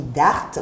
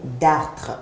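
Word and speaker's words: dartres: à notre langue commune parfois on dit d'arte mais en fait t'es pas d' art c'est d'artres et c'est ce que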